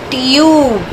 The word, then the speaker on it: tube: But when we add E at the end of the word, it will become tube. Why? Because of magic E, the vowel will not say its sound but its name.